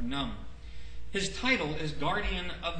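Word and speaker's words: Khnum: that I have here is pronounced n or num his title is guardian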